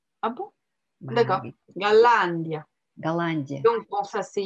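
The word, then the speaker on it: Голландия: J'ai un mal fou à mettre la prononciation sur la fin. C'est mon côté latin, ça. Oui, bien sûr. Mais là, tout sur la dernière syllabe en français, c'est normal qu'au début, tu vas le faire. Mais il faut faire attention en russe.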